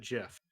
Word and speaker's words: GIF: name the act and the guy who made it pronounced at jiff so yeah i remember